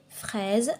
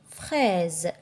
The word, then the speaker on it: fraise: vous avez le mot fraise le S entre deux voyelles ça se prononce Z il y a la